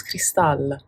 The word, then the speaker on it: Cristal: name my name is cristal cristal cristal some of you find it difficult to pronounce my name um it is cristal so basically just imagine the a-l at the end of it as an